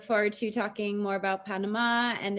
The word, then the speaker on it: Panamá: the name naturally well we pronounce it like panama in spanish and also it has an accent at the end in the in the last a but while there's a